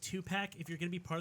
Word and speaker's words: Tupac: of tupac pronounced the true gospel of tupac pronounced two-pack if you're gonna be part of the religion do it right okay two-pack even with subdivision it's fine it's it's the